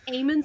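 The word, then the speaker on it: Aemond: different positions the best eamon's the worst and I'm like here you do like a little Django and chain where they're just like they're like my name's Eamon the D is silent I mean they're so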